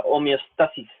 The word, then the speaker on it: homeostasis: hablan de manera regular esta palabra tiene acento en la o por lo tanto es la pronuncia mal es homeostasis no envíos taxis en el vídeo está pronunciada mal un caso muy sencillo de